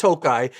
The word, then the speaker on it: Tokaj: Often you'll see the wines with an I at the end that's still pronounced Tokaj.